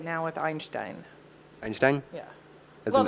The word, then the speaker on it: Einstein: And so we had a lot of German in our home, and Einstein is the correct way to say it.